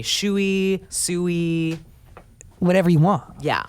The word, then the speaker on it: Tsui: and we welcome sam tsui to the studio and obviously said that right that T is silent yes hey well you